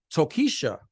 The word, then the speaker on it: Tokischa: she was in the Heights right um with tokisha am I pronouncing that right yes oh yeah new Dominican